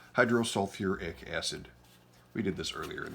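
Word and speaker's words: hydrosulfuric acid: h2s hydrogen with sulfur hydro you might think selfic acid it's not bad but for sulfur and phosphorus they throw in the extra syllable hydro sulfuric acid we did this earlier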